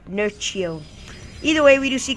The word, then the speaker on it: Nerchio: And we do see quite a big attack by Asa Nuricho. Yes, I said it wrong. Nurio.